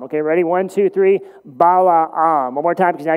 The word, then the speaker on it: Balaam: rest of the time, but let's just say Balaam, okay? Bala and then Am, okay? Ready? One, two, three, Balaam.